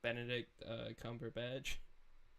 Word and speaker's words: Benedict Cumberbatch: Benedict Cumberbatch.